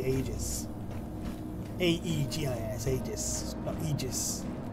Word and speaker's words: Aegis: how you pronounce it I say ages because it starts with an A and the e silent clothes that open that